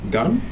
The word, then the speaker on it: Gan: le prénom décord fortine pour dire Gan c'est ça j'e bien prononcer votre nom madame oui c'est ça bon Gan ça vient